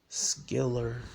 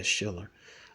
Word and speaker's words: Schiller: uh what is that Skiller Schiller all right salaf I pronounced her wrong um yeah Shiller all right it says U